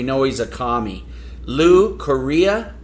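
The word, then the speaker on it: Correa: he's a commie Lou Korea I think is how you pronounce it uh rhymes with diarrhea Korea Lou c-o-r-r-e-a his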